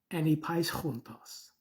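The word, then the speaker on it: ἀνεπαίσχυντος: one time in 2 Timothy 2:15, which we pronounce anipaischuntos. Strong's G 422, anipaischuntos, which we see in the King James Version translated as that needeth not to be ashamed.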